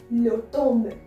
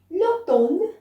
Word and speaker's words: l'automne: Autumn is being called as l'automne. L'automne, l'automne, l'automne. Alright? You can learn it by breaking it also. L'automne. M is not pronounced here.